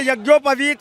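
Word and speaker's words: यज्ञोपवीत: ऊपर पहर से मैं यज्ञो पवित का पहली बात तो मैं राहुल गांधी से पूछ लूंगा कि जने को बोलते क्या है सही में शुद्ध उच्चारण क्या है यज्ञो पवित बता भी रहा हूं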